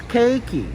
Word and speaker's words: Cakey: call me a girl it's cakey like cake that you eat key that you turn it's not hard God